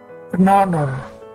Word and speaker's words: honor: Kata-kata berikut menggunakan artikula atau artikel ein, bukan e, karena konsonan h yang merupakan awalan dari kata-kata ini, dari kata daftar ini, kata-kata ini tidak diucapkan. Kita lihat, an air, an hour, an honor, sebuah kehormatan, 1 jam, dan seorang ahli waris.